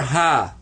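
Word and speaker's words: حاء: And the letter ha has a special kind of a sound with it that you don't notice right away, but whenever you're wearing glasses and you need to clean them, you get that sound when you go ha, ha.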